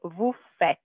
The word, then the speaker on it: faites: Again, it looks like fate, but we're going to say fête. So vous faites.